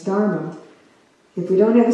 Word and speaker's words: Dharma: that has this Dharma, I said it wrong the first time, it's Dharma.